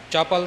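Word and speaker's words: ਚਪਲ: इस तरह जो पिछे पंक्ति आई धन अंधी पिर चपल सियाना चपल चपल बिल्कुल पोला जिहा बोलना चप्पल नहीं कहना चपल तो भाव है चंचल धन अंधी पिर चपल सियाना इउं इसका उच्चारण करना है जी।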